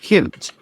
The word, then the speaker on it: coot: The unusual name coot, at one time pronounced cute, in some places comes from the Welsh for short-tailed hen.